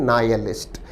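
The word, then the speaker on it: nihilist: और अंतिम ऑप्शन बहुत अच्छा शब्द है, विद्यार्थी ध्यान दें, शब्द का उच्चारण है नायलिस्ट। इस शब्द में एच को उच्चारित नहीं किया जाता।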